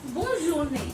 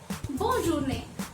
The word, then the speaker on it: bonne journée: So next we have bonne journée, which means have a good day. Bonne journée.